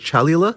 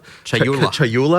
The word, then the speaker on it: Chayula: The acolyte of is it Chalula? Chayula. I always say this wrong.